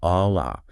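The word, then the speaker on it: الله: A Allah.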